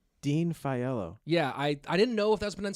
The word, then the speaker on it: Dean Faiello: Dean Faiello. Dean Faiello. Yeah, I didn't know if that was pronunciation.